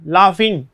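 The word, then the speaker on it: laughing: लाफिंग इस time, उसमें फ का उच्चारण इस टाइम लाफिंग लाफिंग इस टाइप से आ जाएगा।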